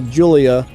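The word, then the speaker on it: Giulia: I know it's not a Gila. It's a Julia.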